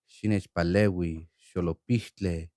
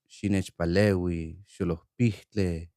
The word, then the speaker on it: Xinechpalehui xolopihtlé: Xinechpalehui, xolopihtlé. Xinechpalehui, xolopihtlé. What does this phrase mean? Xinechpalehui, xolopihtlé. It means, help me, idiot. Now a syllable form. She, nech, pa, le, we, sho, lo, pih, tle.